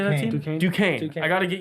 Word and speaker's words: Duquesne: Duquesne. Duquesne. I got to get used to say. I read it and it doesn't I know, it look doesn't like look like Duquesne. anything like it. Duquesne.